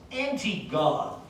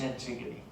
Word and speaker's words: Antigone: student i saw her name and i i pronounced it in my head as anti-god which admittedly it doesn't look like that but no it's pronounced antigone uh here's a very brief um description of